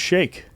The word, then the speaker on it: sheik: A sheik. A sheik? Yeah, I know Actually, it's not. it might be but pronounced shake.